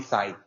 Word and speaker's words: Sai: yeah super easy so how do I pronounce the name correctly is it Sai or is it yeah you can call me Sai Sai okay perfect yeah